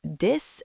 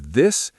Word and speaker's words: this: Many learners say this and that. Yes, the correct pronunciation is this and that. You need to make the th sound.